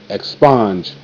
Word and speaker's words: expunge: Expunge. E, k, ek, sp, sponge, sponge, ek, sponge, expunge. Same thing. E is silent. SP, sp. S come from the X though.